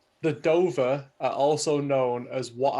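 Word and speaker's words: Dovah: I think that's how you say it. Yeah, Dover. D-O-V-A-H. Yeah, the Dover.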